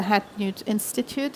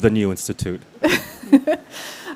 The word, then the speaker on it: The New Institute: the appointed director of the hat newt institute is to the right way to say it just the new institute okay he uh he